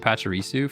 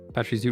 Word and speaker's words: Pachirisu: And Pachirisu for charging. We're charging it up. Not Parchy. Not Parchy, we're Patchy. You know? Patch? Pretty sure I did spell it that way the first time. Pachirisu regular.